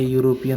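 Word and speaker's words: European: अ इसे देखिएगा तो देखिए शुरू में ई आया है तो इसको हिंदी करिए यू आएगा इसको हम उच्चारण करेंगे तो यू तो यू आ गया यानी कौन सा साउंड हो गया आपको कौन सा साउंड हुआ भवेल साउंड हुआ कि कंसोनेंट तो बोलिएगा कंसोनेंट साउंड हुआ तो कंसोनेंट साउंड के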